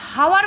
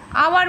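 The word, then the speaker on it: hour: আমরা হাওয়ার বলি না, কিন্তু আওয়ার বলি।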